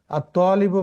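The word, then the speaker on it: الطَّالِبُ: 4 নম্বর আর তালিবু মারিদুন, ছাত্রটি অসুস্থ। মারিদুন মানে অসুস্থ, এখানেও দেখেন ত ডাইরেক্ট তাসদিদ দিয়ে উচ্চারিত হয়েছে, লামটি কিন্তু সাইলেন্ট থেকে গেছে।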